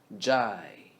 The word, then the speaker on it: 债: 债务 Zhai is drive without R and V sound. Drive. Jai.